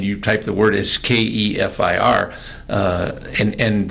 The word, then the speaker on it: kefir: type the word as Kefir, and the pronunciation that's in the computer says kefir, and nobody I know says kefir.